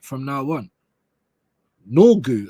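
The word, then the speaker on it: Nørgaard: Norgu instead of Norgard.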